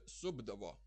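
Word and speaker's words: supdavo: And supti, subdavo. It's pronounced like b, subdavo, because it would be hard to pronounce subdavo.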